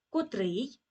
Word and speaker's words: котрий: війні є переломним котрий Зверніть увагу на наголос котрий вживаємо коли говоримо про